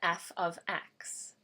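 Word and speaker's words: f(x): the equation is in slope intercept form to F ofx notice how this is pronounced F ofx not f * X also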